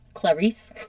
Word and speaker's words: Clarice: Clarice, which I'm working on my pronunciation because it's just spelled Clarice, but word on the street is it's pronounced in Italian, Clarice. I would have said Clarice.